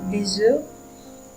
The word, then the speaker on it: œufs: Et il faut faire attention à la prononciation de noms qui changent, comme un œuf qui se prononce au pluriel des œufs et un bœuf qui se prononce des bœufs.